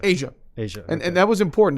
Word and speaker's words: Aisha: Is it pronounced Aisha or Asia? Asia.